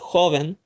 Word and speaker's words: joven: It has two syllables and the word ends with the letter N. It must therefore be the second to last syllable which gets emphasized, because remember the vowel N-S rule.